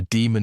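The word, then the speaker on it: daemon: Fair warning, boss. It's spelled D A E M O N.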